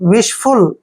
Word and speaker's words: vase: इसको वेज भी पढ़ते हैं लेकिन वॉश ज्यादातर पढ़ता है।